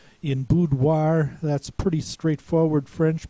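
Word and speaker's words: boudoir: In French, it's pronounced wa as if you're spelling wa pronounced wa.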